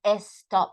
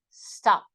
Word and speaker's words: stop: I said before right we don't say a stop no we say stop stop it's it's like it's